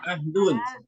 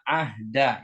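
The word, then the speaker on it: عهدا: perhatikan eh yang quuduna Ahda yang di sini kita baca Ahda bukan ahdu Iya Ahda Ahda ini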